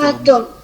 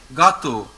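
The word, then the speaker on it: gâteau: Okay, and the last one, if there is AU or EAU inside a word, we pronounce it simply as O.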